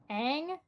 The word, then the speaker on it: Aang: How do you pronounce it? V A V Y. That the airbender dude, the Shaolin monk dude. Aang.